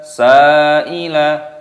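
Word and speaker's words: سَائِلَ: Wa ammas sa'ila, sa'ila panjangkan, mad wajib muttasil.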